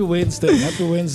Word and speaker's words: Wednesday: The D is silent. I don't know what that Wednesday. All right. But happy Wednesday, Miss Q.